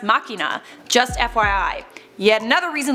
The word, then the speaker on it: machina: BJ mac if you say deus ex machine its pronounced makina.